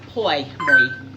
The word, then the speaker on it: Pour Moi: It's spelled P O U R M O I. Poy.